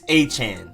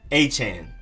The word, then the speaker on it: Etienne: But the people back home where he's from, Louisiana, with the French infused accent and everything, it's Travis Etienne. I'm probably not doing it perfectly correct, but that's generally how you say it.